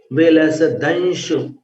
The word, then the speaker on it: विलसदंश: बिंबम, बिंबम व में मिलाना, बिंबम, फिर वियद, वियद द पर रुकना, विलस, विलसदंश, विलसदंश ऐसा उच्चारण करना, विलसदंश, बिंबम वियद विलसदंश लतावितानम।